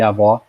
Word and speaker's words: avó: Nós não temos 5, nós temos 8, dependendo do que, dependendo da pronúncia, o timbre é aberto e o timbre é fechado. Avô e avó, por exemplo, claro, obviamente acentuados, mas é um clássico, é um exemplo típico.